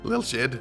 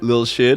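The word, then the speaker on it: Lilshyd: Little shid. Little shed. It's pronounced little little shed.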